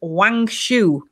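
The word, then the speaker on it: Wangshu: goddess of the moon and her name is wang shu can you spell that w a mhm i'm afraid the usual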